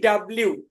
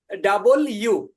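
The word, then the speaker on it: W: হচ্ছে হচ্ছে ডাবল ইউ ডাবল ইউ আমরা পড়েছি ডাব্লিউ ডাব্লিউ না ডাবল ইউ ডাবল ইউ ডাবল ইউ এটা হচ্ছে জি তাহলে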